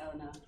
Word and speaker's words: Elena: So I'm afraid it's spelled Elena, pronounced Eleanor, but I'll let her or L-A, which is easier.